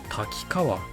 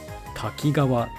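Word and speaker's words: 滝川: この地名を滝川と読むのが北海道民、滝川と読むのが偽北海道民である。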